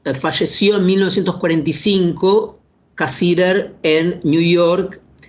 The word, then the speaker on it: Cassirer: Estoy hablando de Ernst Cassirer, o como lo pronuncian los alemanes, Ernst Cassirer. En realidad Cassirer nació en una ciudad